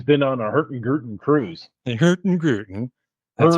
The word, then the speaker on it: Hurtigruten: Hurtigruten. That's right. Hurtigruten. I think a certain Swedish chef serves that. It Doesn't needs he? to be pronounced that way. Yes. Hurtigruten.